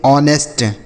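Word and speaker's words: honest: इसे पढ़ते हैं ऑनेस्ट। क्या पढ़ते हैं मेरे भाई? ऑनेस्ट। यहां पे जो एच लिखा है ना मेरे भाई ये वाला एच। यह साइलेंट है। मतलब इसे नहीं पढ़ेंगे।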